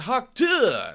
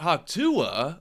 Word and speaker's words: Haku: oh it's Haku not hakua oh my gosh I'm